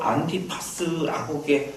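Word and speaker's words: Ἀντίπας: 여러분 안디바를 원문 발음으로 하게 되면 바로 안티파스라고 말하게 하게 됩니다.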